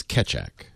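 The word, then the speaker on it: Keccak: The press release says it's Ketchak. Or Ketchak. And Ketchak. that's what I've seen is catch, C-A-T-C-H, phonetically again, C-A-T-C-H, and then A-C-K, Ketchak, which looks good enough to me.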